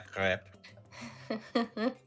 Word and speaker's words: crêpe: la crêpe. You have to say it with like where the vowels are just ridiculous, and that's the proper pronunciation.